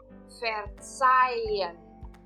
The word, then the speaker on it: verzeihen: Exemplo: verzeihen. Verzeihen. Então, o EIH eu estou agora pronunciando como ein. Verzeihen. Vejam que o H eu não estou pronunciando, mas estou pronunciando o IN depois de novo.